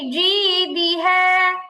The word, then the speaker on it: جيدها: في جيدها. في جيدها في جيدها. জি হবে না, জি হবে, জিম শক্ত হরফ। ফি জিদিহা।